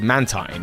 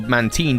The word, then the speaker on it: Mantine: region, which is quite unique, and that is Mantine, Man-tine or Man-teen, depending on your pronunciation, is often seen with a Remoraid under its wing.